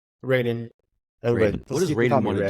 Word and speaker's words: Reden: or like cultural influence like how do you pronounce your first name Raiden what does Raiden want to do with this